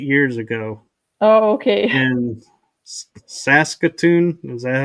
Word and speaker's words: Saskatoon: in Saskatoon. Is that how you pronounce it?